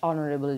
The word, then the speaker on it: honorable: হ্যাঁ, অবশ্যই an honorable হয়েছে কারণ এখানে এখানে এইচ এর উচ্চারণ এইচ এর মতো হয়নি, এ কারণে অনারেবলের পূর্বে অ্যান ব্যবহৃত হয়েছে।